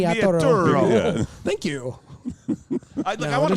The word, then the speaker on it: Vigliaturo: Vigliaturo.